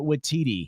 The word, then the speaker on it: Waititi: And I still can't pronounce his name correctly, so say it for me. Taika Waititi.